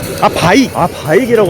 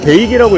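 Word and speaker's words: BAIC: 바이기라고 합니다. 저는 계속 베이기라고 읽었는데 바이기라고 합니다.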